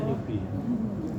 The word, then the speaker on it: newbie: Apalagi kamu ini kan nyubai, kamu tahu nyubai? Newbie, oh bacanya newbie.